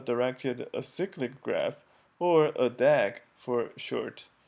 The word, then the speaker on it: DAG: acyclic graph or a dag for short the term dag is typically pronounced as a word not spelled out as an acronym in the figure we